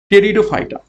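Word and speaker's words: Pteridophyta: সঠিক উত্তর হবে অপশন ডি টেরিডোফাইটা এখানে পি একটু সাইলেন্ট থাকে টেরিটোফাইটার বর্গের ফারাস 113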